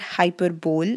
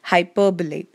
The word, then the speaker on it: hyperbole: was hyperactive hyperbole and guys this is not hyperbole or hyperbole the pronunciation for this you can look it up online is hyperbole hyperbole basically means an exaggeration again hyperbole hyper